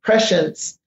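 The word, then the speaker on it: prescience: science and you know pressence is basically the art of knowing events before they take place so uh just think of pre- science life but it's pronounced pressence life and um yeah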